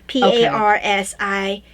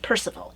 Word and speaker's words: Parsifal: they went with parsifal p-a-r-s-i-f-a-l but that's old spelling yeah uh it's not pronounced percival it's pronounced parsifal well obviously that's yeah